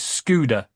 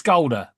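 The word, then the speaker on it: Škoda: Now Scolder are change claiming that the the way you pronounce their name is Scooter. Piss off. It's Scoulder. an IKEA.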